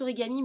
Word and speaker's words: Origam: Alors, ils prononcent Origami, mais ça s'écrit Origam, parce que j'ai eu du mal à le trouver, du coup, par rapport au nom qu'ils indiquaient.